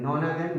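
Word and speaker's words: nonagon: और 9 का नाम होगा नोनागन, नैनो बोलते हैं बहुत सारे लोग, नोना NONA है स्पेलिंग, नोनागन।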